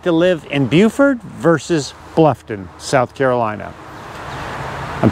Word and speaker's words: Beaufort: It's pronounced Beaufort, so not Beaufort. I know it looks like Beaufort, but it's Beaufort down here.